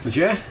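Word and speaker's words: Légère: What's the correct pronunciation? Legere.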